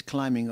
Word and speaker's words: climbing: The boy is climbing up the hill. Climbing, not climbing. Silent B.